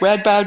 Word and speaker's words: Radboud: did with that it's amazing to me that Radboud is it am I saying it right read bad University that's right which is a very prestigious